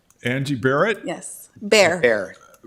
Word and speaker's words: Barrett: Steve spra and what is your name Angie bear Angie Barrett yes bear Barrett how do you spell it b e a r there you go